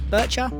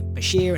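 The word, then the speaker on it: bichir: I first thought it was Burchcher, hence us name, but um I've had a lot more people since then say Basher and I find that's quite a fun fun word to pronounce. So that's what I call them.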